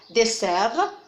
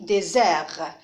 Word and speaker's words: désert: Alors ici, on ne dit pas dessert, on dit désert.